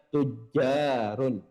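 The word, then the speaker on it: تجار: Kalau kata tajirun itu yang panjang adalah taknya. Taknya panjang. Tajirun. Karena ini yang panjang adalah jimnya, maka kita bacanya tujarun.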